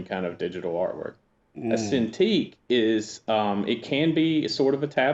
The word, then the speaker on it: Cintiq: Cintiq? Is that the Just throw that in there. She Shout out bought to me Lady a Marcus. Cintiq, yeah.